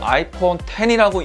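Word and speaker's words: iPhone X: 그러면 제가 뽑은 워스트 아이폰 3위는 아이폰 X라고 쓰고 아이폰 10이라고 읽는 아이폰 10이 이 워스트 아이폰 3위로 선정이 됐어요.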